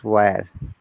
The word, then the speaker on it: where: It is not where, it is where.